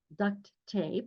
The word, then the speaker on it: duct: to hold ducts together, duct tape. It's not duct tape, although children will say duct tape, and until they see it in print, they may always pronounce it as duct tape.